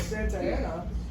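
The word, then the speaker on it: Santa Anna: It was Santa Ana. It would be the proper pronunciation.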